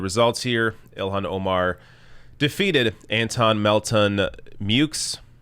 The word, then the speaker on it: Antone Melton-Meaux: here ilhan omar defeated anton melton mukes which i thought was going to be pronounced mo or myo but apparently you pronounce the x anton melton mukes 57.44 percent to uh